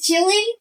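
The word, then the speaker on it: 麒麟: because in China, Qilin, actually how to pronounce it is Qilin.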